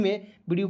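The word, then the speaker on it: move: लिखना है बिल्कुल फ्री में वीडियो को जरूर देखेंगे। एम ओ वी ई। तो देखेंगे एम का म का व। ठीक है? और यहां पे मूव इसका उच्चारण हो जाएगा मूव के रूप में।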